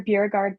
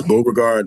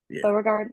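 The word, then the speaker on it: Beauregard: ways so please please tell me if I'm pronouncing it incorrect your character, Bureugard, Bug Montage. Is it? It's Bogard Montage. Burgard Montage. Bogard Montage.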